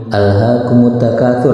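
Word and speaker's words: أَلْهَاكُمُ التَّكَاثُرُ: Jadi bacanya begini, Bismillahirrahmanirrahim, alhaqumut takatsur. Nah, kalau itu kan kalau waqaf. Kalau wasol bagaimana? Wasol pun tetap hamzahnya tidak dihilangkan, tidak seperti ini, tidak misalnya Bismillahirrahmanirrahim alhaqumut takatsur, itu salah baca seperti itu, karena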